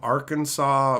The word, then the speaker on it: Arkansas: somewhat interesting you know mm you saw some Arkansas bacon it's funny that that's how that's pronounced by the way because Arkansas totally looks